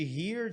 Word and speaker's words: hear: Pronúncia igualzinha de hear, de aqui.